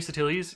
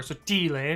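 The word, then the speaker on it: Sottile: Well, according to the internet, there are 6 Anthony Satilis in the United States, or Sotile if you're pronouncing it properly.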